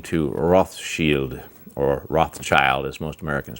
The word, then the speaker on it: Rothschild: That's kind of the fingerprints of Rothschild, third cousin of Rockefeller, finance. In London, or in England, they even have a Rothschild's Day.